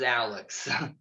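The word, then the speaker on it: Owlex: owl Alex and yes that is spelled o-w-l-e-x it is Alex he is a Eurasian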